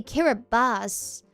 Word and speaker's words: Kiribati: Kind of reminds you of the country Kiribati. The T in the language is pronounced like an S. So it's actually Kiribati.